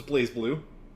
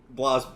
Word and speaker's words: BlazBlue: One of them is BlazBlue. Yep. So we got It's not BlazBlue. BlazBlue? It is actually BlazBlue, but it's BlazBlue. It's spelled that way, but it's BlazBlue. So BlazBlue, Persona 4 Arena, and Undernight Imbirth.